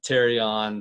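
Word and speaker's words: pterion: might be thinking uh terion silent p fracture where is that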